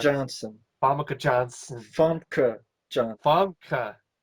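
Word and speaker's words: Famke Janssen: yeah, Pam Johnson, I can't Famke pronounce. Johnson. Famke Johnson. Famke Johnson. Famke. Famke Johnson.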